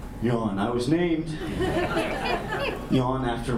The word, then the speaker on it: Jan: my name is Yan although it's spelled j a an it's pronounced Yan I was named Yan